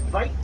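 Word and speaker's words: wyd: The Afrikaans word for wide is vite with a V.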